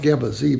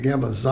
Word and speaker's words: Gamma Xi: And the Gamma Z chapter has been, it's pronounced Gamma Z, by the way. They started calling it Gamma Xi a few years later.